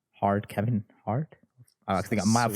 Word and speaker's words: Hart: And the Hart is not spelled like heart. It's spelled like slightly different, but it's pronounced the same. H-A-R-T. That's the same as Kevin Hart.